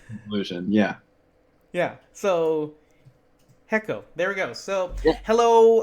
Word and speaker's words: HECO: um JT Helms from is it hecko or heo uh that's kind of the that's the big question right um when we came up with a name we've been pronouncing it heo and it's hard for me to break that habit but it seems like consensus is it's hecko now that's how it's like 90% of people say hecko so I think we